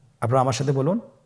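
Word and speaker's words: ب: বা হরফে টান হবে, এক আলিফ টান। আপনারা আমার সাথে বলুন বা।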